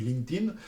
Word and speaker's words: LinkedIn: LinkedIn, ça se dit pas LinkedIn, ça se dit LinkedIn. Il y a pas de ED, LinkedIn.